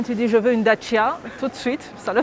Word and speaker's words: Dacia: Alors oui, la prononciation d'origine de sa terre natale, c'est Dacia. Ah, moi je croyais que c'était Dacia. Donc ça peut être un vrai challenge, tu réussis à le prononcer.